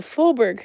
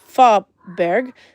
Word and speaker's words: Fåberg: If you pronounced it ah, then it would be Fåberg.